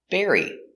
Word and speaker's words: bury: to bury his bone pronunciation berry the dog wants to bury his bone air bear repair e berry berry berry like strawberry berry burying in the continuous